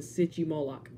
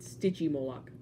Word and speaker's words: Stygimoloch: it looks almost just like the city Moloch I mean sticky Moloch dangit Greek people why